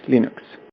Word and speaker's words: Linux: Hello, this is Linus Torvalds and I pronounce Linux as Linux.